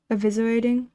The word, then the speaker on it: eviscerating: The C is silent. Eviscerating.